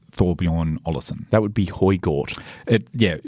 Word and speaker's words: Højgaard: That would be Højgaard. Højgaard.